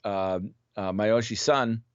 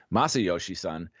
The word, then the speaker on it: Masayoshi Son: Sort of the oddity of the deal was Masayoshi Son. Actually, I didn't pronounce his name right. Masayoshi Son, a Korean descent Japanese billionaire tech entrepreneur who